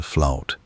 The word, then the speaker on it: fluyt: It was called the fluid, pronounced in the old Dutch tongue, something close to flout, a word that carries